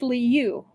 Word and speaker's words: Leu: So, a carp is pronounced Leu, the same as Leu's name, which is kind of funny all things considered.